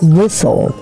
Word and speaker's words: whistle: Yeah, E is silent letter.